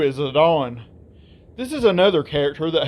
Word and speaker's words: Zidane: His name looks like it should be pronounced as Zidane, which is exactly what most people call him. However, thanks to the Cydia, we know his name is actually pronounced Zidane.